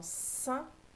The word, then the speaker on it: sein: La lettre qui fait S dans sein, c'est le C. Et c'est E-I-N qui fait 1 dans sein, ceinture.